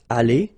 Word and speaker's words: allées: Here you've got aller, aller, even if you've got the final E, you don't pronounce it. Aller, even if you've got the S. Aller, even if you've got this ES.